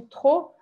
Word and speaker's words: trop: passar aqui para outra, que trop, a gente fala com o R do francês e o O bem fechado e não pronuncia o P, tá?